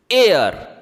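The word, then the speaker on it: air: आई के ठीक बाद जब आर आता है तो ए आई का उच्चारण ए की तरह होता है जैसे ए आई आर एयर ठीक इसी तरह सी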